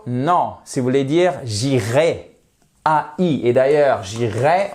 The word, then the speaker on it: j'irai: si vous voulez dire j'irai a I et d'ailleurs j'irai on devrait pas dire j'irai en français techniquement quand c'est du futur simple on devrait prononcer jirai comme un e accent aigu mais bon personne fait